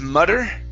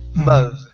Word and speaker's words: mother: Instead of mutter, mother. Mother.